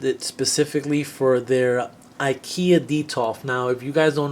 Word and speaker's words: Detolf: wanted it wanted it specifically for their Ikea deto now if you guys don't know what an Ikea deto is it's spelled D e t o l f look